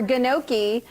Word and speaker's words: gnocchi: Gnocchi or gnocchi, as Randy says, is on the menu today.